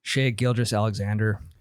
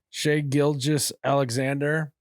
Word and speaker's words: Shai Gilgeous-Alexander: Shai Gilgeous-Alexander. Shai Gilgeous-Alexander.